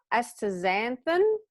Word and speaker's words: astaxanthin: so it also has omega-3 fatty acids uh astaxanthin that's how you pronounce it vitamin a also known as beta-carotene